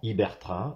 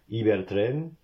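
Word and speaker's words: Ibertren: iberraain imabartraain electrotrain et pas électrotrain comme j'entends très souvent hibertraain aussi et mabarraain voilà alors certes c'est traduit purement en français mais le véritable nom de la marque c'est electrrain train électrique Iber train train ibérique mabal trin alors mabar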